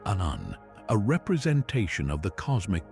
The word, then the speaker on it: Aum: mouth open, forming the sound A, the first letter of the Sanskrit alphabet. Its partner has its mouth firmly closed, representing the sound M or Um, the last letter. Together, they form the sacred syllable Aum, a representation of the